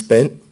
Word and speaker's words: Bernd: My full name is Bent. First name is spelled B-E-R-N-D.